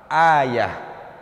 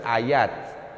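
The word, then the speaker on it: آية: Kedua, ini huruf akhirnya ta marbuthah. Kalau dibaca menjadi ha, ayah. Cuman orang kita sudah terbiasa disebut ayat, bukan ayat sebenarnya kalau satu, ayah.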